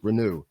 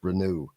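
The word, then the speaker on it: Reneau: Malik Bruno Renu rather Malik renew that is the pronunciation of his name by the way Malik renew I've got to keep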